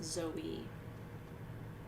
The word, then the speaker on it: zoe: daughter's name zoe so the word life in greek is z-o-i and the accent is on the i so it's zoe and it means life